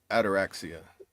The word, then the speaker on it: ataraxia: And achieve ataraxia.